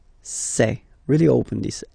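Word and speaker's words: ces: then set here and for the plural say say really open this e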